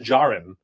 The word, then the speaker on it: Djarin: You can make as many Din Djarins as you want. Is that how you say it? I always said Din Djarin, right? But I think that D is silent.